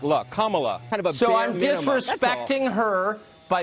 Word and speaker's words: Kamala: being repeatedly said incorrectly her name is pronounced comma like the punctuation mark look kamala so i'm disrespecting her